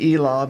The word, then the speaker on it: Elah: Now, I'm going to pronounce it Elah because we're from Cherokee County and that's the way we pronounce it here in Telqua, Oklahoma.